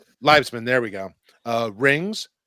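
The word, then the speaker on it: Liebesman: I can't pronounce. I don't know. Livesman. Livesman.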